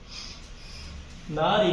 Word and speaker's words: नारी: नारी में ह्रस्व है। उच्चारण भी वैसे ही होगा। नारी इसका कारण यह है कि चौपाई में 16 मात्राएं होती है।